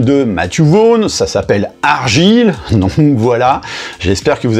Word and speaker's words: Argylle: Donc voilà, mais non, le film dont on va parler, ça se prononce Argylle, donc en référence au nom que porte le style de pull à losange, donc vous savez, typiquement le pull à losange du tonton qui finit bourré à Noël, hein.